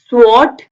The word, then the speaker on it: sword: Sword, sword, sword. W is silent because S W से पहले लिखा गया है.